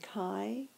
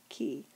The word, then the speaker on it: chi: Again, chi is the common pronunciation, but you might hear somebody say ki.